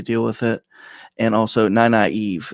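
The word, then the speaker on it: Nynaeve: And also, naive is the proper way to say that name.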